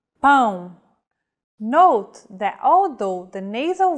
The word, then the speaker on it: pão: To indicate nasal vowels, the tilde is used. Pão.